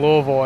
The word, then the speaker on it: Louisville: doesn't bother me but yeah it's Louisville you're supposed to say like Louisville yeah like that like a